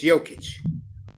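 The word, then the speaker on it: Jokić: Well, how do you pronounce it? Is it Jokic or is it Jokic? It's Jokic.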